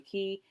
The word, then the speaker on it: Cay: Just FYI in this video, I'm going back and forth between Castaway Cay and Cay. It's Cay, but like, spelled like K.